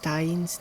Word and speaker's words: Dain: So I kinda mispronounced Dain's name the entire video and only realized it after I finished everything.